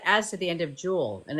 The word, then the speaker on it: Jewel: to the end of Jewel and it's Jewels but it's just Jewel just Jewel people be like I'm going to jewels no you're not you're just going to Jewel Jewel no s like jewberg like Jewel